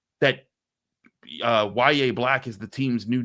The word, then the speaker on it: Yahya: And that brings us to the other day 3 defensive front addition, and that's Yahya Black. I'm going to still call that guy Yahya, but it's actually pronounced Yahya, and he's the Iowa defensive tackle the Steelers brought in for a pre-draft visit.